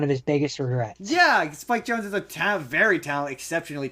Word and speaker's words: Spike Jonze: Apparently, Spike Jonze, Spike Jones. uh, if you say so, That's how it's pronounced.